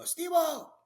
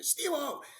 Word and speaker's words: Stevo: He'd yell out, he'd whistle, and he'd go, Stevo! And he had a strong Spanish accent. So he'd go, Stevo! So you barely pronounce the V, right?